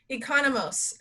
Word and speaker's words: Economos: this is uh what's your last name economos it's spelled exactly how it looks exactly she's a personal